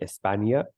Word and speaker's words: España: And a good example for that would be España. So just imagine it's Espanya, España. It just gives it a y sound.